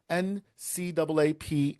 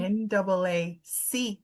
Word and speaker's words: NAACP: me on my show, are up for an NCAAP Image Award for Best Podcast. So you have to. Did I say it wrong? Did you stop me? NAACP.